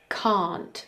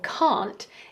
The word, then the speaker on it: can't: the fine version now something to notice with the pronunciation of can't is that sometimes we don't release that final T instead of saying can't we might say can't I can't do it not I can't do it I can't do it I can't do it so as you notice uh they exaggerate a little bit but is uh actually the longer pronunciation now I can't do